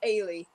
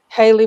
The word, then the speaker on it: Ailee: it i say it's aily like alien but without the n so i thought it